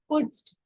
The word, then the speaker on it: putzt: It's like put and then ZT we are pronouncing together. Na? Putzt.